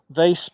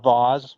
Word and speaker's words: vase: the in the uh vase portion or Vaz whichever way you want to say it same thing just a different pronunciation getting my drill bit